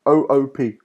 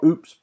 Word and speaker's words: OOP: you next honest is 00 p OOP not oops but 00 p stands for object orientated programming